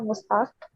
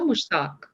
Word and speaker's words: Mushtaq: I thought it's Insha Mustaq, It's right? Insha Mushtaq. Okay. Mushtaq. Okay.